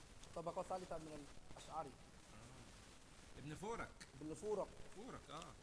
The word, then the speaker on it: فورك: ابن فورك. ابن فورق. هو فورق ينطق خطأ مولانا.